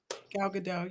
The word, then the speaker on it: Gal Gadot: I'm gonna butcher the name, so sorry. The people that are doing Snow White, Rachel Zegler and Gal Gadot are eyed for big. Who? Gal Gadot. You said it right.